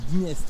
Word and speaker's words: Dniestr: On prononce le D quand même. Oui, D'accord, ouais. le Dniestre. D'accord. C'est la spécificité de la langue russe. Dniestre. Dniestre. Donc c'est Dniestre. D qui ne se prononce pas presque, mais D'accord. on a pas le son, mais un tout petit peu de son.